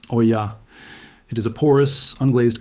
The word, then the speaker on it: olla: This is called an olla, pronounced oya.